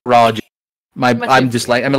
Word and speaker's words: Farage: I miss said that I was going to say farage it's supposed to be farage my I'm dislike I'm